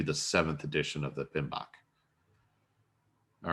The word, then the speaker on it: PMBOK: on it came out in 2017 and it's pronounced pmbok you know acronyms have to have a a